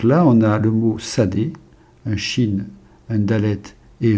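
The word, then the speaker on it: שדה: un et qui est sad puisque le Chine peut se prononcer aussi ce donc là on a le mot Sadé un Chine un dalette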